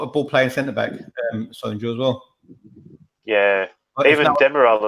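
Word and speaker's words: Söyüncü: They're put a ball playing centre back, Soyuncu as well. Yeah, even Demiral as well. No one knows what to talk about. Sionku. Sionku, yeah. What about Robbie? Robbie's pronunciations, man, they're the worst.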